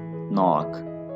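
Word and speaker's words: knock: नॉक, यहाँ पे भी के साइलेंट है, दस्तक देना, नॉक, नॉक्ड।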